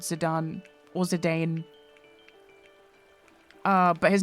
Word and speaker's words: Zidane: The main character is called Zidane or Zedane. Uh, but his name is pronounced Zidon because it's Jadan and it was uh I'm pretty sure they named him after the football player. You hate Zidon?